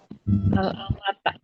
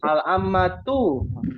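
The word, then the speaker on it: العمة: Apa bacanya? Al-amata. Al-amma. Ah, kok ta? Itu jelas-jelas ini bentuknya. Nah, apa? Al-am, al-ammatu.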